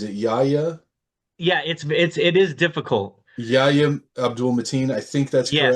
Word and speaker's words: Yahya Abdul-Mateen: The guy who played Wonder Man, I'm not sure how to pronounce his name. Is it yeah. It is difficult. Yahya Abdul-Mateen?